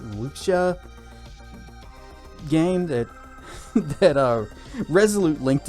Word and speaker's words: Wuxia: You guys see that that that free was it it's pronounced like Wuxia game that that Resolute